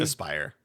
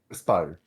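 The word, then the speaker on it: Aspyr: and do what uh Aspir did. Is that how you pronounce the company's name? Aspire. Aspire. Mhm.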